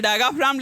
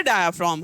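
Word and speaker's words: diaphragm: डायफ्राम हम बोलते हैं डायगाफ्राम। लेकिन इसको प्रोनाउंसिएशन हमारा क्या है? डायफ्राम है। ठीक है? डायफ्राम है हमारा प्रोनाउंसिएशन।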